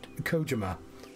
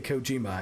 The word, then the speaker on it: Kojima: I know people mispronounce, Kojima, because they say Kojima and it's Kojima. Hideo Kojima. And like, even people who you'd think would like know how to pronounce it correctly, the guy from the Game Awards, who's supposed to be his friend, pronounces it wrong.